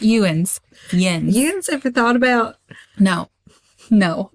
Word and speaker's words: Jens: I was going to, just so we're all clear, that's how I was going to pronounce Jens. Jens ever thought about It's not Ewan's. Yen's.